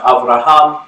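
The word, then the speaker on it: אברהם: abrahamic faith tradition okay abraham is pronounced avraham in hebrew it literally means father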